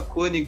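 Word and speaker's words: König: A esse respeito então eu só falar cone direta é tranquilo como se fosse um circunflexo konig mesmo pessoal falar não tem problema então tá certo só que tá cone e jornalista gremista e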